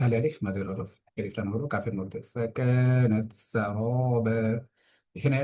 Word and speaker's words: فكانت سرابا: ফাকানাত সারাবা, এখানে র এর মধ্যে এক আলিফ টান হচ্ছে, কারণ জবরের বাম পাশে খালি আলিফ মাদের হরফ।